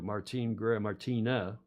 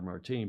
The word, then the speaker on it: Martina: They have now joined Sail GP with the first female skipper, too, Martina, it would be pronounced in Portuguese. Martine, and the Anglos all call her Martine, but Martina Grail is confirmed as Mubadala Brazil Sail GP team driver.